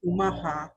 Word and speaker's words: Omaha: a thousand years and so the city of omaha is actually named after my tribe it's pronounced umaha and nebraska is pronounced nebraska it means for